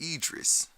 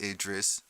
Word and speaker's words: Aegis: and her son's name is pronounced Aegis not address address I said okay and